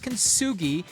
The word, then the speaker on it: Kugi: Enter Kugi, pronounced Kugi, named after the Japanese art of turning broken pottery into something beautiful and resilient.